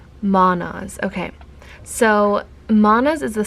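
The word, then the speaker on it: Mannaz: So in the book it says, also the pronunciation is manas.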